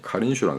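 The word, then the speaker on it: Kariņš: 근데 한수를 더 떠서 라트비아 총리 카린슈라는 사람이 있습니다. 스페링은 카린스인데 그쪽 발음은 카린슈가 되는 모양입니다.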